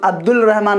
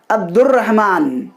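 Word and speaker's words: عبدالرحمٰن: अब्दुर्रहमान, अब्दुर्रहमान, रे पे चले, अब्दुल रहमान नहीं, अब्दुर्रहमान, रे पे हमने तशदीद दिया और उसे पढ़ा।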